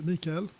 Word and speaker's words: Mikael: Mikael, I mean the English pronounce probably Michael. I don't know how the Swedish pronounce it. I think it's Mikael. Hi, Mikael. Yeah, I'd say it would be Mikael.